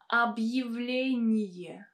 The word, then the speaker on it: объявление: So in this word we have a vowel Я coming after a hard sign, and normally it should be pronounced as a combination of two sounds Y and A. And as you can see, I wrote it as Y, E. Why is it like this?